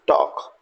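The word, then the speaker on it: talk: right T एल के टॉल्ट टॉल्ट नहीं है this is टॉक सी एल F calf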